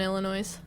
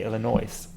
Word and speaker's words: Illinois: Oh, it's Don't pronounce the S. The S is Illinois. I was right. See, you know, we speak different languages. Perhaps in the south you say Illinois.